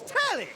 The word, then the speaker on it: Telly: The name's Telly. Rhymes with Nelly, like...